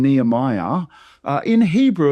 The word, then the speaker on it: Nehemiah: word or the the book and the name Nehemiah, uh in Hebrew, it's actually Nehemiah is how you would pronounce the name Nehemiah in Hebrew Hebrew. Nehemiah.